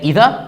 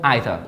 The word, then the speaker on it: either: is หรือ ไม่ ก็ either either คือ ออก เสียง ได้ ทั้ง คู่ มัน เขียน เหมือน กัน You can say either or either ประเด็น คือ คำ นี้